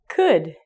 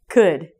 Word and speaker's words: could: I would spell it K-U-D, could. So if you look at this, the O, ding, ding, ding, and the L are silent.